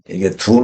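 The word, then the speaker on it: 屯: 어떤 사람들 은 이 ' 춘 ' 을 ' 둔 ' 으로 발음 합니다 . ' 춘 ' 으로 읽는 것 이 더 좋습니다 .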